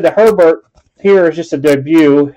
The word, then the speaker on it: Herbert: do have a score herbert not hebert has some people say his name is not hebert it's her bert all right mosaics uh